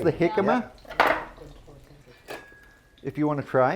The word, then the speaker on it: jicama: Jicama, but it's spelled with a J.